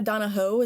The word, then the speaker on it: Donohoe: really liked okay uh am is it Amanda donaho is that how you pronounce it yeah Taho okay uh she's a